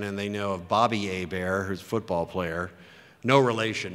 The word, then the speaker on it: Hebert: is Louisiana French and a bear is pronounce where the H is silent and the E's pronounced like an A and the ERT is like Stephen Colbert you know looks like Kolbert so a bear is